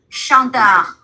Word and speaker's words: chanteur: Chanteur. Và chữ này là mình đọc là gì?